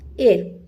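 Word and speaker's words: heir: Which is the correct feminine of एयर। एयर का H silent है यहां पे।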